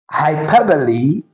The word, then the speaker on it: hyperbole: Do you pronounce it as hyperbole or hyperbole? Now let's look at the transcription. According to the transcription, this word is pronounced as hyperbole and not hyperbole.